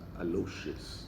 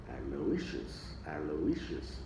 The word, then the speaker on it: Aloysius: The stress is on issues. Aloysius.